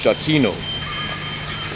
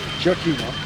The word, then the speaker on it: Giacchino: So yeah, so for it says so for the composer Michael, his last name is pronounced Giacchino. Giacchino, you see with a J sound, so that's a soft J.